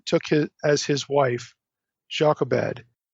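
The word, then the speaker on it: Jochebed: his as his wife jobed his father's sister or yoked be the better hebraic pronunciation amram took his wife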